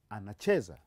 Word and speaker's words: anacheza: Kiswahili, we put stress on the last syllable but one. We call it penultimate syllable. The last syllable but one. Or the second syllable from the last. For instance, maybe I should give you one example. This is the last syllable and this is the second from the last, and so we put our stress on that syllable. You say it is anacheza.